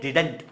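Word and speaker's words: didn't: और इसे हम बोलते हैं डिडंट या डिंट, दोनों ही बोलते हैं, इसका प्रोनाउंसिएशन दोनों ही है।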